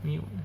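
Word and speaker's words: μ: simbolnya adalah mu ya, mu. Ini variasi data tunggalnya, rumusnya ya, rumus untuk sampel, yang ini rumus untuk populasi, ini simbolnya semua. Nah, tadi ini dibacanya mu, kalau yang ini kita bacanya to ya, to ya.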